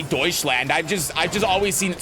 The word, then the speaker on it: Deutschland: I said Deutschland. I don't know how to speak German, okay? I know the general pronunciation. I know it's not like doucheland or something.